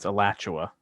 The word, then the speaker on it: Alachua: give you that because the the the a pronunciation otherwise it will spot on Alachua alatua ALU alatua so it's also like where